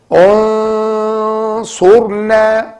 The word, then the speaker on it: انصرنا: Unsurna, not unsurna, because we have to hide this nun. Why? Because it's followed by صاد.